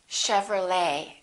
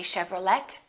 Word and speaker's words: Chevrolet: valet and one more chevrolet we don't say chevrolet chevrolet let's look at a